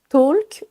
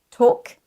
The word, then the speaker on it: talk: Tous ces mots sont piégeurs parce qu'ils ont un L silencieux. On ne dit pas walk, talk, would, could et should.